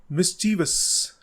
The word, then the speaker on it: mischievous: It is not mischievous, it is mischievous.